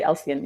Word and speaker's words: Alsean: And it's Alsean. Okay. Alsean. You can say you can say Alsea if you want to, but either way, it's still the accent is on the first syllable.